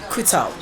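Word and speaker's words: Coutaud: right all right all right so i'm gonna spell that so it's it's and c-o-u-t-a-u-d kuto c-o-u-t-a-u-d you sms that um you don't put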